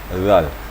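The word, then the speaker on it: ذال: Bacanya lembut sekali. Seperti kita ketahui bahawa hujung lidah kita bertemu dengan papan gigi atas. Bukan ke urat gigi ya, tapi papan gigi atas. Dua papan gigi atas. Wa hadzal zal. Dia lembut bacanya. Dan juga gigi kita tidak boleh dirapatkan. Jadi gigi tetap direnggangkan sedikit, kemudian ujung lidah menyentuh papan gigi atas, maka keluarlah makhraj zal, lembut.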